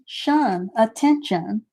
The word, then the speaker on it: attention: sound in this word there's two t's but we only need to pronounce the t one time to in actually the